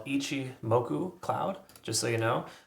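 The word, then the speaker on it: Ichimoku: like some weird word um it's it's called Ichi moku Cloud just so you know um and it's is spelled ICI II m o k h moku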